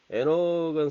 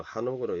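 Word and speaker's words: חנוך: 피스데이 믿음으로 그 에녹은 사실 제가 창세기 할 때 했지만 이 발음이 좀 잘못됐다 그랬죠. 한옥이에요. 예, 하나크 밭이다 이런 말인데 한옥.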